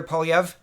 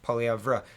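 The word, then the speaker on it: Poilievre: little bit of hot water here uh pierre polyev and i've been getting his name wrong so thank you for correcting me in the comments pierre pauliev nope polyavra so i apologize my english reading is is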